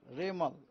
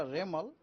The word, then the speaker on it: Remal: उनको नाम होगा रेमल रेमल प्रोसन होगा रेमल उसका spelling uh आरई एम ए एल रेमल यह नाम एक्चुअली